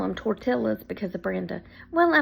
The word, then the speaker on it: tortilla: yeah I call them tortillas because of Brenda well I mean and to be honest that is how it's spelled even though in the espanoles to L's equal a y I do know that